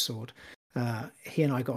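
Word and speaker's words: Saward: w a r d so Kieran sword it's pronounced sword uh he and I got on really well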